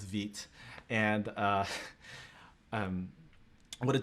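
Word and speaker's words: Vite: here for and so veet and so you'll again i think a lot of you will think is pronounced white understandably so but it's french so it's veet and uh um what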